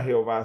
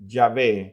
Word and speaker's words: Yahvé: Sin embargo, algunos comenzaron a afirmar que una mejor pronunciación o una mejor traducción del nombre de Dios no era Jehová, sino que Yahvé.